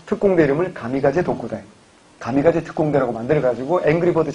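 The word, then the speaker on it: 神風: 그래서 힘이 불어주는 바람 신품 일본 발음으로 가미가제 라고 하는 거고 그래서 2차 대전 맛까지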